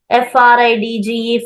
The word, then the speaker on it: fridge: DGE completely, its pronunciation is J.